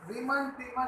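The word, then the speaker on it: Reimer–Tiemann: Next है जी आपके पास रीमन टीमन reaction, राइमन टाइमन reaction या रीमन टीमन भी बोलते हैं, वो राइमन टाइमन बोलता है, सबके अलग अलग प्रोनाउंसिएशन है।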